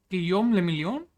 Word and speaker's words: Guillaume le Million: If it doesn't rhyme, you're not pronouncing it right. Guillaume le Million?